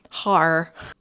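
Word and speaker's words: haar: And that specific name is, you spell it H-A-A-R, H-A-A-R, har.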